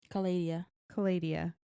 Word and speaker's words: Calladia: Were there watching when this happened, and Calladia was like, Calladia, Calladia, like labia. I was thinking like kaleidoscope.